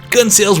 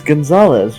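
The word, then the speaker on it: Gonzales: Why do you pronounce it gun sales? What are you talking about? Because it says gun sales. Right? What? It's Gonzalez, right?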